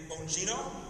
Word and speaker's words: Bongino: Dan Bongino. Did I pronounce that right? Yeah, that's good. Bontrono Bongino.